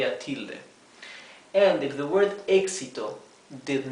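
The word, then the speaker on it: éxito: see that it has a TI here okay exito if you pronounce the word exito you can can uh intuitively discover realize that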